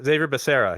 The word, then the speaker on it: Javier Becerra: Ah, Xavier Becerra, yes. Yes. Javier Javier Becerra, depending on how you're pronouncing that. I've heard it both ways.